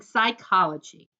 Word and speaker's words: psychology: I'm studying psychology oh the way she said it that weren't big words sounded like psychology but the word on the book was spelled with a P P sy C hol oh gee why I wrote it